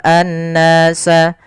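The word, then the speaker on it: النَّاسَ: Kemudian pada lafal an-nasa di sini ada alif lam syamsiyah, yaitu alif lam yang kita tulis tapi tidak dibaca, langsung ke huruf nun yang tasydid.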